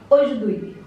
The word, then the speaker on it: aujourd'hui: So it is pronounced like this. Aujourd'hui. Aujourd'hui.